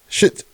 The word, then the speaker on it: Schitt's Creek: Shit. Thank you. Fakest rapper out. Schitt's Creek. Okay. And it's spelled SCHITZ, right? So shit's like the last name.